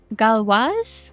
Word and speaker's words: Galois: Oofs and galwaz? Yeah. Is that how you say it? Yeah. Uf and Galois, the Uf. crepe shop. Yeah. Oof and galwaz.